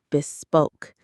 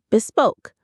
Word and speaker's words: bespoke: Now, this is a wonderfully elegant word, bespoke. Let's say it. Bespoke. Bespoke. Stress on the second syllable. Bespoke.